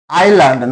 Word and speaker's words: island: Island not land. S is silent here.